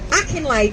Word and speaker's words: Akinlade: Dominic Akinlade, sorry, I'll spell it now because I said it wrong. Akinlade, Metropolitan Police.